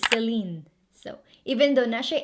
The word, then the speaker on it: Celine: in the 1950s now this one's easy it's celine so even though nashe accent selena shepard pronounced founded by celine vipiana along with her